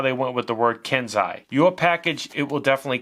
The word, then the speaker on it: Kensei: the kenzai rta by vinnie vape comes in kenzai stands for it's pronounced kenzai okay it stands for a master